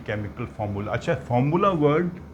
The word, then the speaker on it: formulae: अच्छा, फार्मूला word जो है सिंगुलर है, सिंगुलर।